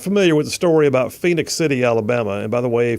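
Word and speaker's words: Phenix City: If you're not familiar with the story about Phoenix City, Alabama, and by the way, for those of you that aren't familiar, Phoenix is spelled Phenix.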